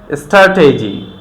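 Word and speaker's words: strategy: টি এর আগে যদি একটা এস থাকে তখন আমরা এটাকে ট উচ্চারণ করব। তো আমাদের বলতে হবে still, stand, stamp, stamina, স্ট্র্যাটেজি।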